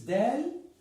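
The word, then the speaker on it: دال: This is dal, and it's pronounced da.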